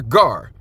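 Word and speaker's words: גר: And when a stranger, gar, not I'm going to go with the pronunciation they have, not nakar, gar, shall sojourn with thee,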